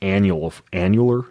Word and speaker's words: annular: that the fibers that break down are these annular. Is that how you pronounce it?